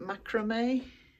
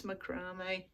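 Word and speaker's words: macramé: I think some of you pronounce it macrame, but here in the UK I believe it's macrame.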